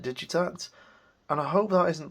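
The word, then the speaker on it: Digitakt: electron I think that I think they pronounce it digit act uh I still insist on calling it digit act and I hope that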